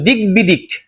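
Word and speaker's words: দিগ্বিদিক: এখানে দেখো গড় সাথে বফলা বসছে, কিসের সাথে? গড় সাথে বফলা। এই যে গড় সাথে বফলা, তাহলে এই গড় উচ্চারণ হবে, বফলার উচ্চারণটা হবে, উচ্চারণটা দিক বিদিক না, হবে দিক বিদিক।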